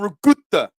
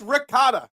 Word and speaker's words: ricotta: with XYZ and rut nobody says rut that's not even how Italians say R you're trying to sound sophisticated and all you sound is stupid when you say give me the on my pizza no it's ricotta r i c o t t a it's not spelled regut there's not three letters in the word I hate when people